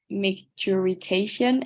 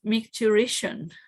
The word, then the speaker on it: micturition: yesterday, I tried and I was like micturitation, and I don't think that sounds right. Yes, micturition.